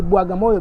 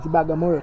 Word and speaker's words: Bagamoyo: That's why they say it's Bwaga. So we say Bwagamoyo because of different language. But today we call it this is Bagamoyo town because Arabic people they fail to pronounce the word Bwaga.